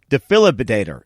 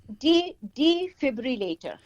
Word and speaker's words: defibrillator: this the defilability the philip i i can't pronounce this defilibit defilibidator is that right so defibrillator okay d filler rater okay so defibrillator d